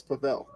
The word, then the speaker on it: Pavel: Pavel, because I know Pavel or is it? No, I know like in Canada, W's pronounced like V, so it's Pavel.